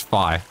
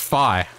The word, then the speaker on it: Fi: Well, I make it sound like a lot, but more than I expected that were like, it's Fi. It's pronounced Fi.